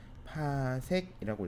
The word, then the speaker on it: 파섹: 1pc라고 하고요. 읽는 거는 파섹이라고 읽습니다. 알겠죠? 파섹.